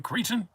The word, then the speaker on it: cretin: Cretin. Cretin? You have to overpronounce the T on Cretin. You Cretin?